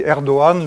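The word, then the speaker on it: Erdoğan: est le président erdogan je rappelle qu'on dit erdogan le g le gène se prononcent pas donc c'est un singe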